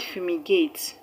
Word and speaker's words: fumigate: end of the word the word fumigate has first levels and the stress is going to be on the third level from the end of the word which happens to be the first level of the word fu fu the word reciprocates reciprocate